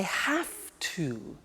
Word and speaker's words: have to: Now, did you hear my pronunciation? I have to. Notice I don't say V, I say F. Have. It becomes have to. Have to becomes in pronunciation have to.